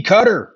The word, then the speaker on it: Qatar: Uh Qatar, it used to be cutter. Now all of a sudden it's Qatar.